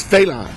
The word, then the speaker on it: Fela: success of um uh I always say it wrong it's it's not Fela it's uh it's FAA FAA yes on Broadway uh